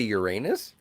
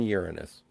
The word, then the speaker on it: Uranus: Yeah, but can you get to Uranus? Oh, had to do it. Someone had to bring it up. You know that kids are taught to pronounce it Uranus these days.